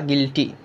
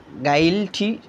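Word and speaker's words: guilty: গিল্টি মানে কি দোষী জি আই জি ইউ আই জি ইউ আই এল গিল টি ওয়াই গিল্টি কিন্তু গাইলটি মানে যদি আমরা একের পর এক বানান করে পড়ি তাহলে গাইলটি কিন্তু না এখানে গিল্টি মানে দোষী গিলটি মানে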